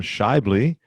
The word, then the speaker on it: Schaeuble: brian grinn and my guest today is adam shibley and uh he's a podcaster coach and author